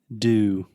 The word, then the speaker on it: dew: Do. What? Do. Do. Just like do. Do you want to make a question? Do. But we spell it D-E-W. Like Mountain Dew.